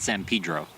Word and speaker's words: San Pedro: Yes, he pronounces it San Pedro.